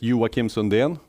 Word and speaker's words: Joakim Sunden: much in the way but my name is yuwa Kim Sundin I guess here in Denmark most people know how to pronounce that which is not the case in